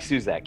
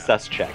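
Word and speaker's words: Suszek: listen, I'm not Suzak here, okay? Don't talk to me about saying my last name wrong, which, by the way, is suscheck, but we're not going to get into that.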